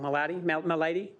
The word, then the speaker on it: Milady: to say it wrong Milady milady not like disease no no no like